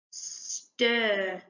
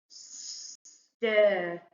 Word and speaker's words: stir: Stir. And we've got a phase 4 sound at the beginning there. A S and a T together. We say st. And then at the end. Stir.